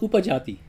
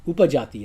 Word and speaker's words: Upajati: It's called upajati. The other kind of verse has 8 syllables in each quarter.